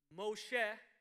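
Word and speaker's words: מֹשֶׁה: it comes to moses moshe pronounced in hebrew which means to draw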